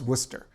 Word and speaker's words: Worcester: sources will agree that the first part is worcester with a o sound. So the first part is worcester.